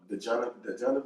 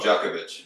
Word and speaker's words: Djokovic: I mean, you think about Djanovic, is how you pronounce his name, basketball right now? Oh, Djokovic.